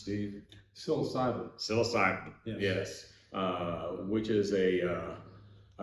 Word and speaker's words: psilocybin: covering today, specifically for the how is it pronounced, Steve? Psilocybin.